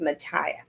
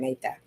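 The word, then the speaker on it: Matha: a t h a it's actually Indian Indian and it should be pronounced Mata but we're rednecks from Georgia so we just pronounce it made that so anyway I put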